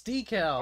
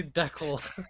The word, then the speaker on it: decal: right pronunciation no it's decal okay don't believe the Heretics to say deckle it's like when Kyle